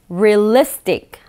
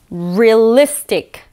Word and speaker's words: realistic: 이 발음이 은근히 어렵습니다. R-E-A-L, real, really? 이런 것처럼 이 real 발음이 real 발음이 돼선 안 되겠죠? realistic 한 번 더 realistic 그렇죠 real 강세가 있어요 realistic 그렇죠 그렇죠 realistic